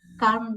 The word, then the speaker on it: calm: Explain that he has to calm down a bit when he's visiting. Okay, did you notice how she pronounces calm? No L?